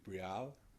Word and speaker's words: Brialle: i'm gonna try and say her name right brielle yes you got it brielle ringer is is